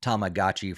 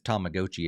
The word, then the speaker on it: Tamagotchi: throws me off because I pronounced it Tamagotchi for the longest time. But according to the not last Nintendo Direct, it's Tomagotchi apparently.